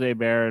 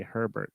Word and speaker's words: Hebert: Well, my last name's Hebert, and most people say once a day they say Herbert.